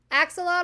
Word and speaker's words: axolotl: How do you pronounce that animal? Axolotl.